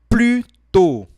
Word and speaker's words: plus tôt: Plus tôt. E aqui a gente não pronuncia o S, tá?